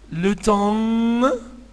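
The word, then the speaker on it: l'automne: طيب هم أربع كلمات ناخد بالنا منهم الفصول السنة أربع كلمات هم ليفير الشتاء ليتي الصيف لوتوم ما قولش لوتومن الأم ني تاني ليفير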